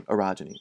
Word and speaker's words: orogeny: The swelling up of mountains was described as an orogeny, ontogeny, phylogeny, orogeny, accent syllable 2.